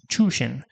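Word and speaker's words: 中心: This kanji pair is pronounced chushin. We know the first kanji, chu, means inside or middle. The next one is new for us in this game. We're using its on reading of shin, and it has a kun reading of kokoro.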